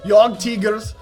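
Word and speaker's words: Jagdtiger: I have one-shot Yog Tigers, or Yog Tigers, or Jag Tigers, however you pronounce it. It's properly pronounced Yog Tigers, because that's how the Germans say it.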